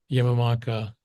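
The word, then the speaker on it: Yamanaka: In 2012, there was a Nobel given out to a fellow, Yamamaka, I believe is the pronunciation.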